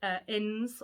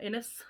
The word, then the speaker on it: Innes: It's Rachel Innes, or Innes, depending on how you say it, middle-aged spinster who basically